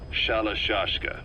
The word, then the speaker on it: Shalashaska: the time I got to hearing about it pronunciation had wound up as shalashaska so half gulg half hero sword is a